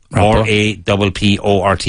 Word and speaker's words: rapport: This is a French word that we use a lot in English. Rapport. R-A-P-P-O-R-T, but pronounced rapport.